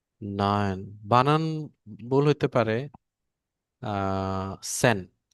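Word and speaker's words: zehn: বানান ভুল হইতে পারে সেন এ বানানটা আমি আগে ভুল বলতাম পরে ওইদিন ক্লাস করতে করতে রিপন ভাই খুব বেশি এলার্ট ছিল যে ভাই এটা তো জেন না এটা তো সেন হবে ভাবি ভাইটা কি ঠিক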